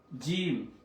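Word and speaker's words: جيم: তা সা এরপর আসেন জিম জিম জিম জিমের জিমের নিচে হচ্ছে এক নুক্তা থাকে জিমের মধ্যে এক নক্তা থাকে সেটা নিচে জিম জিম হা জিম জিহ্বা মাঝখান থেকে জিম উচ্চারণ হবে জিম্বার মাঝখান থেকে জিম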